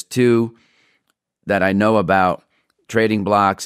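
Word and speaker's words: Trading Blox: Trading Blocks is one, and that's spelled BLOX.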